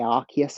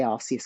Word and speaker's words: Arceus: English some people say Arc yes I I say Arceus because that's how it's pronounced in Japan um I think that